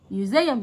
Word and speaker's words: museum: museum. يلا نكتبها حرف الام ميو يو حرف اليو والاس علشان بين حرفين متحركين، انا بكتبها اس بس انا عارف اني بسمعها وبنطقها زد.